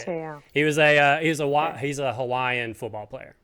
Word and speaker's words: Te'o: Okay, so Manti Te'o was Manti Te'o is how you say it. Te'o.